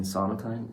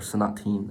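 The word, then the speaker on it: Sonatine: uh and i chose though it was between sonotan and judo or sanateen as it's actually pronounced energy though and i just i want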